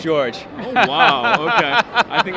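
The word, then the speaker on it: Dziordz: is Father George but my last name is spelled differently than George okay it's a Slavic origin so it's like DZ i o r DZ that's George oh wow okay I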